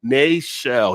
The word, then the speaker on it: Nachel: And he's like, it's Nachel.